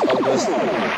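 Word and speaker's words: Auguste: all right that's correct it's pronounced AUST Rodan general information what they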